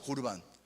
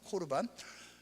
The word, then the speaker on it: 코르반: 고르반. 기억하시는 분 있을 거예요. 정확한 발음은 코르반입니다. 코르반.